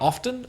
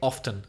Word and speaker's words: often: often or you can say often. What do you say? I'm fairly sure that I always say often. I pronounce the t.